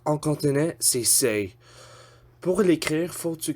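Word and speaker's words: 四: Pour prononcer 4, faut que tu prononces say. Comme le mot saying, comme parler en anglais, say.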